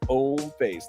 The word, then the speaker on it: Hommeface: Yes, the H is silent. Homeface.